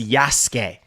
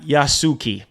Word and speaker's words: Yasuke: Apparently his name is pronounced Yasuke, not Yasuki.